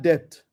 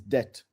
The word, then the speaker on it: debt: Number four, eliminate bad depth. The actual pronunciation is debt. But so that you understand what I'm saying, depth.